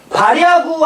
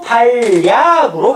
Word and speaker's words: 발야구: 발야구 아니죠? 발야구로 발음이 됩니다. 자, 합성어 및 파생어에서 발과 야구 합성어죠? 앞말의 끝이 자음이고 뒷말의 끝이 이하여요유. 그러면 뭐야? 발야구. 이게 뭐야? 니은 첨가가 일어나는 거지.